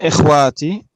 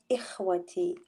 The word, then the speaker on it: إخوتي: Not ikhwati, ikhwati.